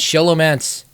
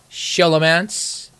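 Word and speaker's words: Scholomance: quest by the way I pronounce Shalom ants shallow manse deal with it that's what you're gonna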